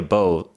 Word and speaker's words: bow: And I say a bow and you know it's actually the same spelling and pronunciation as like the bow that you shoot.